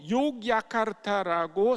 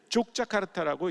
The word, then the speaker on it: 욕야카르타: 이 그 인도네시아는 네덜란드의 지배를 오래 받았는데 네덜란드 사람들이 자기네식의 스펠링을 가르쳐 준 거예요. 그래서 그 사람들은 J라고 쓰고 Y라고 읽습니다. 그러니까 원래 그 도시의 이름이 욕야카르타인데 그거를 J라고 썼기 때문에 어떤 사람들은 그냥 그 도시를 족자카르타라고 읽습니다.